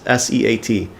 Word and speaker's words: SEAT: have even heard uh spelled like seat SE a t uh but seat is the way at least I know how to pronounce it um and this this